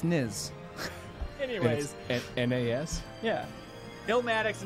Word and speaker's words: Nas: Well, someone said it's not pronounced Nas. It's Niz.